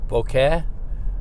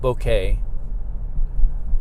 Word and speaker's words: bokeh: right it's called now some people call it bokeh but i think it's actually pronounced bouquet b-o-c-e-h and it's the